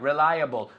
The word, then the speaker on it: reliable: Reliable. Five points. Five points. Reliable. Reliable. Acordaros el able y el ible es able. Un toro. That's right. Reliable. Respectable. Responsible. Able. Un toro. Okay? Not able. Able.